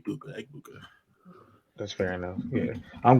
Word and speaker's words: Egbuka: I'm pretty sure he's of African descent, and one of the things with African names, they're almost always pronounced exactly how they're spelled. E-G-A-B-U-K-A, Egbuka.